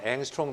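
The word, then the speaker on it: 옹스트롬: 그래서 이것을 여러분이 아는 앵스트롱 단위, 옹스트롱이라고 발음하고 하지만 그 옹스트롱 단위로 보면은 10배를 해줘야 돼요.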